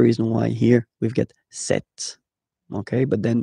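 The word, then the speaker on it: cette: And that's the reason why here we've got set, okay? But then it's still the masculine form, se, set. For the feminine, it will be set, so only one, set.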